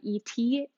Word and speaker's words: ETEE: I really like my brand from ET, which is spelled ETEE, but Tiny Yellow Bungalow also carries some, and I'll drop both of those links.